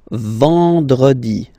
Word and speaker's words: vendredi: Then, E-N, nasal, and it's en, en. So remember, vendredi. Vendredi.